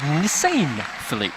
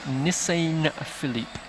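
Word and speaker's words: Njisane Phillip: who's just taking the victoria's first name is nissan philippe so apologies to him for uh mispronouncing it nissan philippe is the way the name is pronounced so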